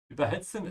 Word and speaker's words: überhitzen: Überhitzen is not a separable verb. This is why I'm emphasizing the second part, überhitzen.